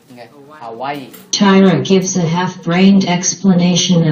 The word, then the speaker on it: Hawaii: The models arrive at a sugarcane field in Hawaii, where nhớ là Hawaii, ta phải đọc là Hawaii, right? Not Hawaii. Okay? Hawaii.